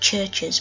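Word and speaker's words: CHVRCHES: listen to the next band is pronounced churches but it's felt like really funny he's felt like CH v r CH es they I recently got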